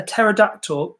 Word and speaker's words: pterodactyl: can't you hear a pterodactyl go to the toilet the P is silent it's quite funny because there Emily mrs.